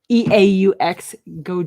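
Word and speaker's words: Geaux: they have a little in hyphens how you pronounce this g-e-a-u-x go juice it's an ipa mary brewing company berry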